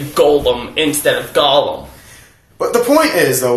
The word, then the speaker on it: Gollum: Yeah, it's Gollum, not Golem. Doesn't matter how you pronounce it.